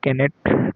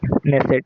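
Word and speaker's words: Knesset: तो इजराइल के लेजिस्लेचर को केनेट कहते हैं। के एन ई नेसेट सॉरी के silent and नेसेट election every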